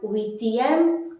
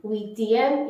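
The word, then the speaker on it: huitième: Wheatium. Wheatium is 8th.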